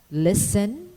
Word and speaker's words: listen: etc in word spelling the alphabet letter t is silent when preceded by a letter s in the terminations t e n and t l e as in moisin listen grissom bristle or whistle it is silent also